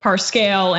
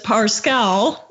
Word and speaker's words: Parscale: so the Lincoln project pronounced as parscal I thought it was parscale that's what Brett erck told me I don't know